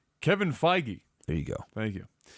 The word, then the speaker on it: Feige: his name yep Wow that is the last pronunciation I would have guessed mmm for that name Kevin Feige there you go thank you has been contacting